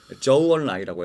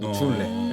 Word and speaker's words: 저우언라이: 저우언라이라고 해서 준네. 맞아요. 주은래. 네, 우리식 발음은 주은래라고 하죠.